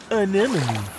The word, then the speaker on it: anemone: Anemone. Anemone. Anemone. Anemone. Hey, I got it. Great pronunciation, Dean.